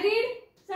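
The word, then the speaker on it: read: काल मी लिहिलं आय रीडचा आय रीडचा आय रेड होत आता आय रेड स्पेलिंग सेमच आहे पण उच्चार वेगळा आहे त्यामुळे इथ आपण हा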